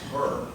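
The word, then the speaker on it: Hoerr: Remember, we're learning by doing, and when you're working with your teams, this is something that Thomas Herr, it's spelled H-O-E-R-R, and he used to do a lot of writing for ASCD in Ed Leadership.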